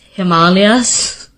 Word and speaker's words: Himalayas: Like ashwagandha and Himalayas, it's Himalayas.